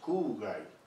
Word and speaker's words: 空貝: informaciones contradictorias conocido como kuwait justo así o si podría hablarnos de este concepto muy bien perfectamente primeramente tenemos que entender que la pronunciación correcta es curar hay una prolongación de la hay porque éste primero